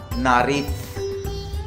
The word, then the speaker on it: nariz: Knows को बोलते हैं ला नारिथ, ठीक है, ला नारिथ, ये जेड है, जेता, ठीक है, ला नारिथ।